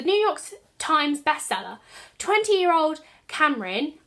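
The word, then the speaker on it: Camryn: York Times bestseller 20-year-old Cameron I think that's how you say her name it's spelled c a m r y n has already know has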